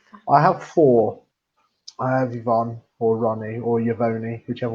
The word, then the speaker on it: Yvonne: she has many names i can say her name properly now you know her name is yvonne or i call her ronnie uh you know she's not called yavoni but as i thought